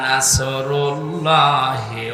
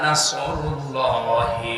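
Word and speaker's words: نصر الله: এখানে অনেক মানুষ এমন বসে আছে, নামাজে দাঁড়ালে পড়ে ইযা জাআ নাসরুল্লাহি ওয়াল ফাত, হয়েছে? এখানে সোয়াদ আছে, নাসর মানে সাহায্য, আর নুন সিন র নাসর মানে ঈগল পাখি।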